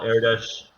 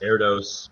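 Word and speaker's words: Erdős: and that is correct Paul eres often pronounced Eros but um famous for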